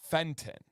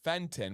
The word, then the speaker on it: Fenton: we we say U we drop syllables so for example a city that has our favorite Mexican restaurant is Fenton okay f n t o n Fenton but nobody here says Fenton we say Fenton we just we just